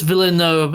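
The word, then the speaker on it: Villeneuve: Den de Den villo you pronounce it Dennis villo yeah villo yeah but it's French so you got to pronounce it with a weird you know you can't just say the letters that are on the screen it's French so you got to drop half the letters and add a bunch of others so and I did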